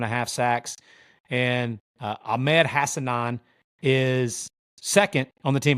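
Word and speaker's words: Hassanein: with 10 and a half sacks and ahed hassanan is second on the team by the way I checked it that is actually how you pronounce it it's hassanan uh interesting story on this guy man he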